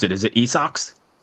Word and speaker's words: Esox: I definitely want to get into How do you pronounce it? Is it Esox? Ezox.